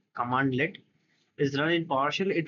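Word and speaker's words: cmdlet: Instead, when a CMD-led pronounced command-led is run in PowerShell, it returns objects that retain their properties and methods.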